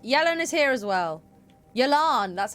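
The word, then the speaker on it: Yelan: here we're trapped Yellen is here as well yilan that's how you say her name yes best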